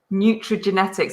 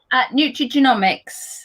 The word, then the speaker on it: nutrigenomics: So maybe she wants to hear about nutrigenetics. That's a new word to me. Did I say it right? Nutrigenomics. Nutrigenomics.